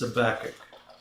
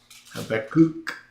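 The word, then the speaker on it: Habakkuk: This is Habach works really well. Habacook. Yeah. When we were kids, we didn't know how to say this and we called it Habac.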